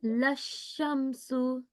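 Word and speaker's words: لَا الشَّمْسُ: So try pronouncing this bit again, and remember you have to emphasis or stress on sheen. Okay, read it with a bit more stress. Okay. La shamsu.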